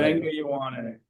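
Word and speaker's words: Vega Ioane: Veng Yowane. That's how you say it. Venga Yowane. Venga Ioane.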